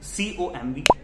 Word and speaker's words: comb: जैसे कि COMB com, TOMB tom, NUMB num, CLIMB climb. So M के बाद अक्सर जो B होता है, that is most of the time silent.